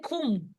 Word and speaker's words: Qom: How do you pronounce it again? Kum.